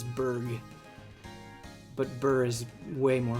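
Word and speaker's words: Burgh: I always said it like burger. I think you guys are right. I think it is a hard G. I think it is Berg.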